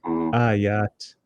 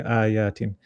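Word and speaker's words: آيات: Ayat. You say it correctly. If you say it carrying on, you'll say ayatin. Ayatin bayinat, example. And you stop, it's ayat with a sukun.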